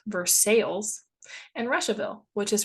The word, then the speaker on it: Versailles: My favorite are Versailles, which is pronounced Versailles, and Russiaville, which is pronounced Ruchaville.